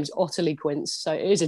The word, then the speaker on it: Ottilie: oq service course so oq my name is otterlee quince so it is a tricky one to pronounce my mum and dad obviously hated me